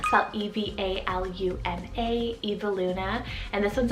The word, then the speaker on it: Eva Luna: a literary feel to it next name is eva luna cell e-v-a-l-u-n-a eva luna and this one's a mashup name